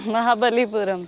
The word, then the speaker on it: Mahabalipuram: Mahabalipuram.